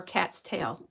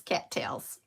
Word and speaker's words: cattails: So these are the cute little, I always said it wrong in school, cattails or cat's tail. It's cattails.